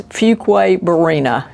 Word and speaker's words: Fuquay-Varina: Don't worry about pronouncing it wrong, it's Fuquay-Varina, and I've heard it pronounced every way.